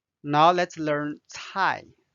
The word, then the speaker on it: 菜: Now let's learn 菜。菜 has two different meanings. Dish or vegetable. And cai is the fourth tone.